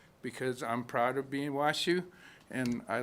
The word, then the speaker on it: Washoe: I am Southern Band Washoe, not Washoe, but Washoe. You could pronounce it the way it's spelled. That's what my grandfather said.